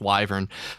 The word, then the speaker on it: wyvern: Like, give flying to a couple of people who are good at it, and try I guess it's technically pronounced wyvern.